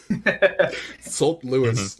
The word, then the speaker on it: Saint Louis: If I'm pronouncing this Louis, it should be Sant. It should not be Saint Louis. That is the issue that I've been having. The comments of us giving it the French pronunciation of Louis and the English pronunciation of Saint. Sant Louis.